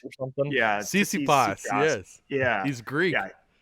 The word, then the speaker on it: Tsitsipas: It starts with a T, and the second letter is an S. Or something. Yeah. Tsitsipas, yes.